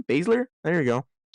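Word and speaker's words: Baszler: you say your last name Basler there you go how do we feel about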